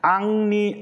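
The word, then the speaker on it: Henri: 또 1689년 왈로파의 지도자며 목회자인 앙리 아노, 이게 앙리인데 이제 영어 발음은 헨리가 돼가지고 앙리 아노.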